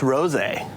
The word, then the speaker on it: rosé: Okay, because it's spelled R-O-S-E. R-O-S-E. Okay. But then it's got a little... So I believe just like, because again, let me help here because I'm sherbet. Right. I believe it's rosé.